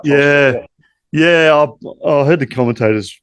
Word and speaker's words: Tholstrup: Tholstrup, yeah. I heard the commentators pronounce it as Tolstrup though, but it is what it is.